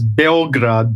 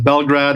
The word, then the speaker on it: Belgrade: Well, the real name is, the way they pronounce it here is Belgrade, but there's both pronunciations. Belgrade or Belgrade is the same thing in terms of, internationally, I suppose.